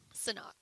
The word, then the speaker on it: Sanhok: Sanhok.